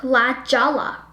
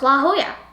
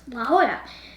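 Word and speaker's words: La Jolla: to la la hoya but hoya it actually starts with a j so at first i pronounced it as la jala but then i was like and someone was like no it's la hoya and so now i know it's la hoya not la jala which is not it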